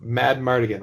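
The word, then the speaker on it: Madmartigan: That they were like, we have Willow, we have Mad Mardigan, right? Yes. That's how you pronounce his name?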